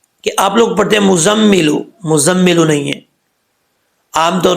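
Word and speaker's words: مُزَّمِّل: مزمل آ رہا ہے، لیکن عربی کا لفظ وہ لفظ مزمل ہے، ٹھیک ہے۔ تو کیسے پڑھیں گے اس کو؟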